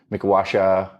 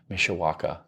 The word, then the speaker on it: Mishawaka: months sober it was up at mikasha I think that's how you say it something like that yeah Mishawaka Mishawaka I think and I wanted to